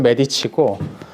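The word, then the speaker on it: Medici: 이탈리아어로 읽으면 메디치고 프랑스식으로 읽으려면 이제 메디시스라고 읽어야 됩니다.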